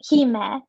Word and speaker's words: Hime: well it's the like the historical like actual pronunciation is kime so h-e-e then dash m-e-h like he-ma like oh that guy with him he met